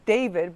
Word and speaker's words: D4vd: His name is David, but it's spelled D4vd.